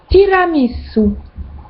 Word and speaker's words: tiramisu: Ensuite, le U se prononce OU. Comme dans tiramisu en français, ça se dit en italien tiramisu.